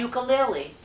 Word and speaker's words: ukulele: Ukulele. Ukulele. Nope. It's pronounced ukulele. Ukulele. Oh, because it's Hawaiian.